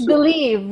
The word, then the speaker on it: Bliive: here today and I never knew how to pronounce it correctly uh it's believed yeah that's exactly what I thought but it's